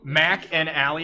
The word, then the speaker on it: McAnally: childhood present all right so mac and ally is how you say it kind of like steak and shake right two people i go